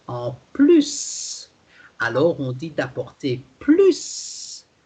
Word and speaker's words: plus: When plus is positive, meaning there is more, okay, something in addition, so it's positive, then you have, in addition, the S sound at the end.